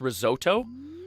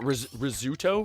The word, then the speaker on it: risotto: that how it's pronounced risotto it's not rizzuto risotto and that's a